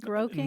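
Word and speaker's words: groak: you know this word groing no but I'm about to learn you are you are it's spelled either g r o a k or g r o w k and it's a Scots term and if you look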